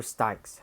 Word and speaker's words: Styx: gods was water, which they called Styx, or Styx, how you pronounce it.